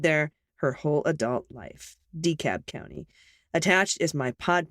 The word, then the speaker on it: DeKalb: team you mentioned the peachtree dakob airport it's pronounced d-cab county not dekalb the county will keep coming up so now you know from someone who lived there her whole adult life decap county attached is my pod pet miss claws